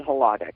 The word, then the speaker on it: Hladek: right hack it's hack is that how I pronounce it it's actually htic but that's htic right htic why I didn't